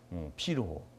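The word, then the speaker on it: Virchow: 여러분들 이거 발음이 어떻게 돼요? 사람 이름? 피르호, 피르호스 림프노드입니다.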